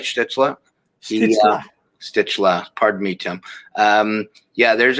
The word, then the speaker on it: Stützle: Stützle.